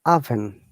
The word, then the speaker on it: oven: not oven all right so if you think that because it is all it should sound like oh but in fact it is not it should sound like ah oven do you have avenue